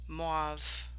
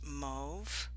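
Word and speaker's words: mauve: coat on this uh moive i keep saying moive but actually i think it's pronounced move so i've been told so uh yeah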